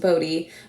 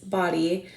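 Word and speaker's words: Bodie: was the body lighthouse it looks like it should be pronounced bodhi but it is body we did not get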